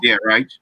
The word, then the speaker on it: Reich: Colts coach is Frank Reich or Reich, or is pronounced Reich.